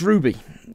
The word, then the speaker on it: RWBY: Yeah, pronounced Ruby. Alright, RWBY. Ruby.